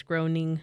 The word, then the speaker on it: Groening: You said groaning? I think it's groaning. Groaning, okay.